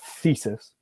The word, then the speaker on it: thesis: So what I was talking about before with the two types of th sounds, that's voiced, so it's these. Yeah, right? you can sing it. These, yeah, that's true. And then the other one is unvoiced, so it's just air. You put your tongue in the right position, and then you just blow air through your teeth.